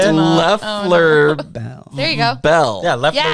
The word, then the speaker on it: Loeffler Bell: Loeffler Bell. There you go. Bell. Yeah, Loeffler Yeah. Bell. Loeffler Loeffler Bell. Nice. I've been saying lawful bell like an asshole.